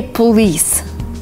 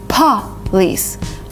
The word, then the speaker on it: police: A lot of people say police, which is not right. It's police, police. Kind of blowing a candle.